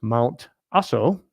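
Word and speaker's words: Mount Aso: a solar panel Farm I think it's pronounced mount asso in Japan and here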